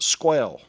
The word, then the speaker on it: SQL: Then there's SQL, pronounced squel.